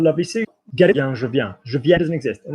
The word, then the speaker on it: je viens: How do I pronounce je viens?